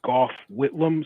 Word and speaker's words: Gough Whitlam: The man's name is Gough Whitlam, so it's spelled Gough, and then Whitlam, Whitlam.